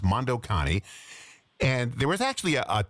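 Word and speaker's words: Mondo Cane: And uh if you look up Mondo C an A N E Moc Kane Mondo Connie is the way it's pronounced.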